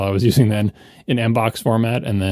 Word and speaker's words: mbox: I exported it from, Claris email or whatever the hell I was using then in Mbox format. And then it's pronounced box, rhymes with mbop.